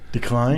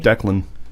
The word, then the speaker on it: Declan: to decline it too that's how people pronounce my son's name incorrectly decline decline yeah like dude seriously decline it doesn't look like decline at least looks like Dee clan that's what I would you know Declan Dec LAN decline yeah